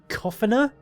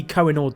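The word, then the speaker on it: Coughenour: Counter-Strike Global Offensive US District Judge John C koffer is that how you pronounce it United States District Judge John ker how was I supposed to know that it's spelled cough anyway John C cenor Diamond here granted the motion to dismiss with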